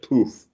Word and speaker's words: Puff: Puma Jones pronounces it poof. Like her name Puma.